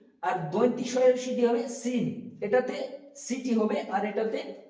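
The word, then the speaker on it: سين: ঠিক তেমনি সিন উচ্চারণ করার সময় আমরা খেয়াল রাখবো, সিন যখন বলবো তখন খেয়াল রাখতে হবে যে এটা তো একটা সিটি হবে, সিন, সিন। তারপর হচ্ছে শিন, সিন হচ্ছে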